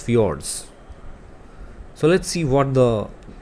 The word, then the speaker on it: fjord: option b that is fjords the correct pronunciation for this word is fjords so let's see what